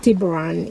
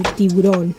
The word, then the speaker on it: Tiburon: Which is not actually pronounced Tiburon. It's actually Tiburon.